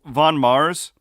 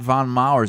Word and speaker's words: Von Maur: watch they say warch okay so you have Von Mars is that not how it's pronounced because I've always said let's go to Von Mars but it's not Von maurer's it's not plural it's Von Maurer I've always